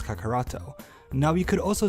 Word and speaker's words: Kakaroto: with an I and pronounce Goku's Saiyan name as Kakaroto.